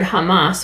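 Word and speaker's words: jamás: second curiosity of language in Spanish the word Hamas with a j j a m a s pronounced the same way uh as in Hebrew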